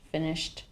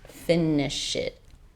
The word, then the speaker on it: finished: Finished. Finished. Not finish it. A finished with a t a t sound at the end there.